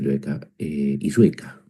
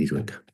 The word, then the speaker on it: Illueca: Entonces, le pregunto a Alonso Illueca, lo pronuncié mal, lo voy a pronunciar bien, Illueca.